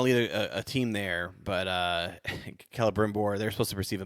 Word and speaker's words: Celebrimbor: Celebrimbor.